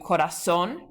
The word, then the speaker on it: corazón: So for example, you have corazón, it ends with an N, but that spoken accent is on the last syllable.